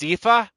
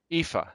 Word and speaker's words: Aoife: It's pronounced Ifa.